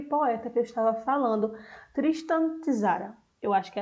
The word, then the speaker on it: Tristan Tzara: E quem fez essa receita foi aquele poeta que eu estava falando, Tristan Tzara. Eu acho que é assim que se pronuncia.